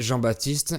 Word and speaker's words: Jean-Baptiste: called Jean-Baptiste Poquelin and Jean-Baptiste is a compound first name that is still relevant today. Moreover, those who are called Jean-Baptiste, they are nicknamed JB and the P of Baptiste is silent.